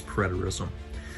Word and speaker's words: preterism: By the way, Ryan, it's pronounced as preterism.